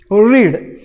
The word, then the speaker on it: read: पण ज्यावेळेला मला पास्ट टेन्स करायचं आहे तर मला स्पेलिंग हेच आहे बघा, रीड, रेड हा पास्ट टेन्स झाला. आणि याचा पास्ट पार्टिसिपल म्हणजे तिसरं रूप आहे, ते पण सारखंच आहे स्पेलिंगच्या बाबतीत. उच्चार त्याचा पुन्हा रेड आहे बघा.